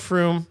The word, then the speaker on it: Frome: Yeah, no, it's called Frome. And thanks, Brad, for the heads up because I was able to pronounce it properly and I didn't get labeled